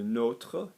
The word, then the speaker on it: nôtre: know, like Notre Dame, you are going to say the o, like float. Yeah, so le nôtre, la nôtre, les nôtres, les nôtres.